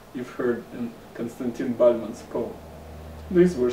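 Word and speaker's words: Константин: Latin letters like this in Russian constraint team is pronounced like this Konstantin in both English and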